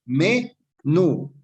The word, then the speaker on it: menú: Me-nú, dos sílabas. Y nos dice que para que sea aguda debe tener su sílaba, eh, debe estar acentuada en la sílaba tónica, ¿no es cierto? La última sílaba debe ser tónica, es decir, la de acá, me-nú.